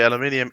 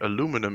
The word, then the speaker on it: aluminium: i'm gonna leave you technically aluminium is english aluminum is american i think people that